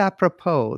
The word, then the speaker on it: apropos: Apropos? A professional's professional. I mean, it means appropriate, but why am I saying apropos? I don't. That's how you say it, apropos.